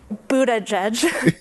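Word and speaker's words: Buttigieg: judge Pete Buddha judge it all boils down to the vowels Buddha judge the vowel in this first syllable is not like boo but like book oh look and the last syllable isn't the UH vowel I can judge but it's the unstressed a vowel like in steerage edge so not but Buddha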